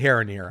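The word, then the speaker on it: Haranir: But yeah, they're like these creatures that they were introduced in the War Within, which was the last expansion, and the Heraneer.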